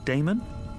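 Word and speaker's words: Daemon: e m o n how do you pronounce that Damon if you prefer and this address I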